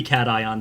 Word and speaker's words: cation: i want to say the way you pronounced caution this episode i thought you were making an aether space joke um but second oh i'm sorry it's supposed to be cat ion this is a uh